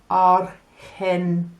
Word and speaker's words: Argentina: Now, when you have G followed by the letter E, it makes a H sound, and it's the same when you have G followed by the letter I. So if we think of some países like Argentina, you get a H